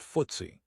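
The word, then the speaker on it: FTSE: Footsie httpwwwcy comm includes the 100 largest companies on the London Stock Exchange pronounced Footsie originally stood for Financial Times Stock Exchange.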